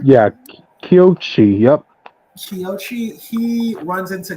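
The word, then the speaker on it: Kōichi: main character, Kyochi, I think that's how you pronounce his name? Yeah, Kyochi, yep.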